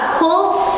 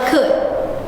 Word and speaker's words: could: Cold or could? How to pronounce this one? How to pronounce this model? Good. Could bunyinya could. Jadi L-nya enggak kedengaran ya, sayang.